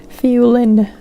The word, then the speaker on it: Fiolin: Fiolin. Ulin. Or Fiolin. I think so. Fiolin. It's a lin, not an in.